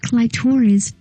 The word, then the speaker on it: Clitoris: cheapest bad guy the other one is queen clitoris pronounced clitoris who is played by serene Arwen she spends